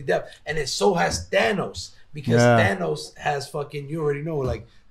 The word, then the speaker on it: Thanos: you people to know that's how you properly pronounce him Spanish way Thanos like that's why I